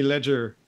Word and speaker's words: Leger: it in the states I pronounce it just like that ledger okay perfect yeah and